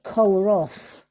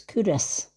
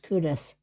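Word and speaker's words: Culross: A lot of Americans call it Coloss because it's spelled C U L R O S, but to the locals it's Curus. It's pronounced Curus.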